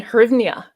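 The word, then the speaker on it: hryvnia: I saying it correctly is it the Ukrainian hernia oh yeah yeah that's right well that's very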